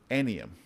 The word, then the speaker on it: Aniam: I'm sorry, it's three syllables. Aniam.